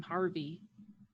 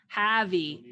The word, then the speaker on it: Javi: I'm Harvey. Javi. I said it wrong. I'm Javi.